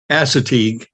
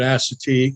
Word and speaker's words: Assateague: Assateague.